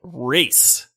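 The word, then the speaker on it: Rayze: quicker and this is a game called raise r-a-y-z-e but they say it like race almost and i didn't catch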